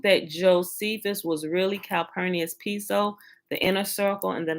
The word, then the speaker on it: Piso: But it's spelled P-I-S-O, but it's pronounced Piso with it's a E, P-E-S-O.